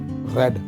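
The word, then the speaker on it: read: लेकिन second form को हम रीड ना पढ़ के रेड पढ़ेंगे। क्या पढ़ेंगे? रेड। थर्ड फॉर्म भी हम रेड पढ़ेंगे इसको। यानी प्रोनाउंसिएशन जो है वो सेकंड और थर्ड की अलग होगी, बोलने में अलग होगा, लेकिन स्पेलिंग तीनों की ही सेम होगी।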